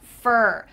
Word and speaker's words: for: So this is going to sound like F-E-R, fur. Kind of sounds like the fur of an animal, which is F-U-R, but same pronunciation.